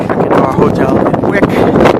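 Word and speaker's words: Vík: Here we are on our last stop on Monday before we go check into our hotel in Wick. Pronounced spelled V-I-K, Wick.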